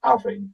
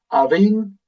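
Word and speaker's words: abhainn: River is Avin. It's not Avin, it's Avin. So we always put the emphasis on the first syllable.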